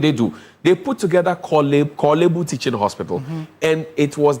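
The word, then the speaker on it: Korle Bu: It's not Kibbu, it's Kibu.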